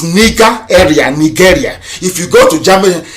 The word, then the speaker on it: Nigeria: long as nigeria does the proper pronunciation not knowing nigeria is the elephant from nigeria it sounds a bit okay the proper name is nika area nigeria if you go